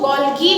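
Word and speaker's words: Golgi: में बताऊंगी that is गोल्जी apparatus. कुछ लोग इसको गोल्गी भी प्रोनाउंस करते हैं।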